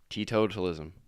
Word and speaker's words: teetotalism: I was the one adding the syllables in there. Teetotalism.